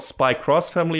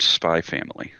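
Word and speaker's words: SPY×FAMILY: if it's called just if it's called spy cross family or just spy family i'm not sure sometimes the acts can be read different ways in japanese uh apparently it is indeed pronounced spy family yeah that makes it just like hunter hunter okay then well there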